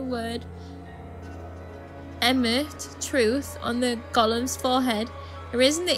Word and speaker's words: golem: telling me this um he has to be referred to by the last bit which is of course golem that was quite funny actually much to his surprise this ends up being pronounced like gollum anyway on a side